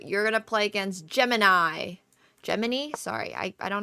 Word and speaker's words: Gemini: So, Gemmini. Gemmini. What? I'm pretty sure I've heard Samsung pronounce their AI app. And it's Gemini.